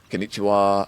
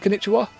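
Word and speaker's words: こんにちは: That wa, it's like English. They've put, it's pronounced wa, but it's ba, the character in konnichiwa.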